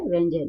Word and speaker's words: व्यंजन: तो जब भी च, छ, ज और झ के पहले अनुस्वार आता है, तो उसका उच्चारण हम क्या करेंगे?